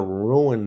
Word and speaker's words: ruin: I don't want to ruin it. So, okay, so let me ask you, Cody, you joined late. Not only did I realize late in life, ruin is two syllables.